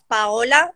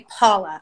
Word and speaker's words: Paola: Okay, my name is, it's actually Italian. It's Paola, but you can say Paula.